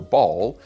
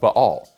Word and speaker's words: Ba'al: consonant is o so the pronunciation of ba'al is closer to the original hebrew than either baal or bal which either change the vowel sounds or smoosh them together and drop the middle